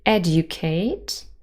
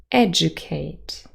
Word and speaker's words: educate: For example, in the word educate, we can say educate, educate, or educate. with Yod Coalescence.